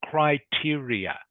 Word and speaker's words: criteria: The one you weren't sure about, it is pronounced criteria.